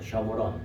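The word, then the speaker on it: שומרון: 원래 발음을 제대로 하면 셔무론, 사마리아가 아니고 셔무론인데 그게 원래 망대란 말이에요.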